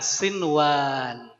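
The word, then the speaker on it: صنوان: Jadi bacanya gimana? Kinwanun. Ya, kinwan. Yang terakhir adalah kata ini. Adalah kata ya, sinwan.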